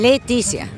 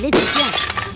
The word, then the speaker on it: Laetitia: la O es todo lo mismo e se pronuncia bueno es brava la e titia no lo dije bien Leticia bueno la de titia no no la es nada Leticia Leticia vos sos realmente la hermana de piñe